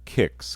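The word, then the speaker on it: Qix: that compares to this is quicks or some might call it kicks because it's spelled with a cube but there's no u after it q i x i always said quicks when i was a kid other people may say kicks i don't know if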